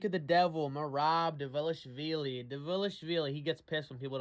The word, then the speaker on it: Dvalishvili: Dvalishvili. He gets pissed when people don't say that right. Did I say it right, Merab? Dvalishvili. Dvalishvili.